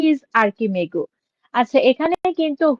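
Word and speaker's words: Archimago: ওকে, এটা আর্চ হবে, কিন্তু এখন এভাবে যখন থাকবে তখন এটা আর্কিমেগু হবে, উচ্চারণটা আর্কিমেগু হবে, আর্চিমেগু না।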